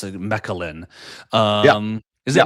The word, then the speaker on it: Mechelen: I believe it's Mechelen. Yeah, Is it yeah. not? How did I do, Frederick? Very well. It's Mechelen, but you did that very well.